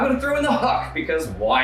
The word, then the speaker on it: Hükk: And I'm going to throw in the Hükk, because why not? I noticed you didn't pronounce it Hükk. It's Hükk. It's Hükk. Hükk.